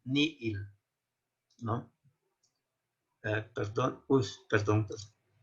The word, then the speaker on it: nihil: nada es ni él algunos pronuncian como ni gil como si fuera una j pero esto es una variante de una costumbre para poder distinguir la doble y propiamente no es correcto no entonces nosotros vamos a aprender como sacando un auditor creación ex nihilo nihil entonces hay que pronunciar la doble y ni el no con los tres